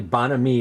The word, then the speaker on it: bonhomie: had to look up Webster's definition myself so bonhomie is apparently bonhomie is the correct pronunciation there's a couple of definitions the late 18th century from the French definition is bonhomie meaning good fellow generally speaking modern use of